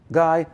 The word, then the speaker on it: Guy: Now, my name is simple, Guy and Winch. It's one syllable apiece.